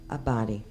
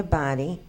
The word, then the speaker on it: Abadi: I believe I owe you an apology I'm pronouncing your rent your last name incorrectly a body I'm sorry now I can upon formal presentation pronounce it correctly presented to Anthony Abadi president of interchange bank in recognition and with